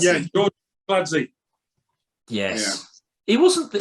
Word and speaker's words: Kinkladze: Georgie Kinkladze. Yeah, Georgie Kinkladze.